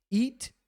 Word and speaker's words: eat: Olha só, eat, tem o EA, a gente fala I, e também temos sleep, tem dois E's. Então, EA, E. Em inglês se pronuncia I, é um I longo, não é E, é I, sorrindo assim.